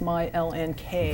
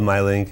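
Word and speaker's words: MyLNK: which I understand was originally supposed to be pronounced my LNK right right so it's a it's called my link in the L&K it's from the airport code but we really thought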